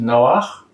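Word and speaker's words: נח: 29, they talk about the birth of Noah, which in Hebrew is pronounced Noach.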